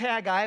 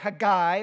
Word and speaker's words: Haggai: burly fellow there but it's a guy or a guy or Hagee i all of those are proper and acceptable pronunciations or again you can